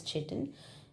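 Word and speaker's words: chitin: Kiten is found in kiten or some pronounces as chitten.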